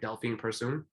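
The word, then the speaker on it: Delfine Persoon: her fight with um tell me if i'm pronouncing my name right delphine pursuing yeah okay perfect so i was there for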